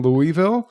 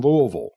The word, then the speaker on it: Louisville: were like i'm in louisville and i'm like you mean louisville and they're like what i'm like talk like you're drunk and try to say to louisville you know that's a